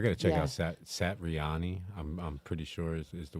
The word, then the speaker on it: Satriani: I'm sorry, I said his name wrong. Satriani.